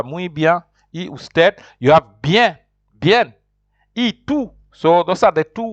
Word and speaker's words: bien: say beer but in in Spanish like I said you pronounce what you see you have to say bien this b-i-e-n you say bien so bien is fine